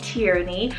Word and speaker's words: Tierney: future i have the name tierney salt t-i-e-r-e tyranny i love this one as well for the